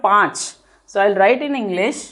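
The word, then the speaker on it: पाँच: You should always say panch. Pang. So it should come from your nose.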